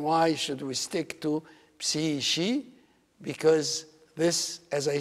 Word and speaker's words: psyche: In every language, this word, psyche, is pronounced with a K.